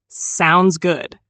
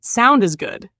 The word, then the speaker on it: sounds good: Say it with a smooth rhythm. Sounds good. Not sound is good, just sounds good.